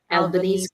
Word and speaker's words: Albanese: How do you pronounce his name again? Surname Albanese. Albanese, Albanese.